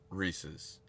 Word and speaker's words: Reese's: what if I did you say Reese's like Reese racist um it's pronounced Reese's okay sorry I might